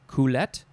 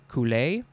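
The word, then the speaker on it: culet: And that is called the, well, there's a couple of ways to pronounce this. Is it a coulette, a coulée, a cullet?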